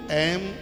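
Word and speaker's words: ऐं: का कितना बड़ा प्रभाव सबसे पहले ए इसका उच्चारण सही कीजिए बहुत लोग एंग बोलते हैं जो एकदम अशुद्ध है।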